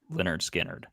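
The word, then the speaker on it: Lynyrd Skynyrd: so we did for the album Leonard Skynyrd pronounced Leonard Skynyrd this week I was confusing last week it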